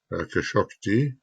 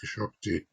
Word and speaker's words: Khashoggi: All of the lying going on around the apparent death of this journalist, Saudi journalist, Khashoggi, however you pronounce that, I think Those who have researched, I think it's Khashoggi.